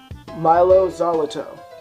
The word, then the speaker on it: Mylo Xyloto: part of probably my favorite coldplay of them mylo xyloto that's actually how you say it I looked